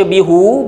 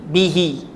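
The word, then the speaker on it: بِهِ: Jadi bagi orang Arab untuk meringankan sebutan, kalau baca bihu berat, maka mereka telah tukar sebutannya jadi bihi.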